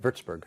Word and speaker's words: Würzburg: Did I pronounce that right? Wurzburg.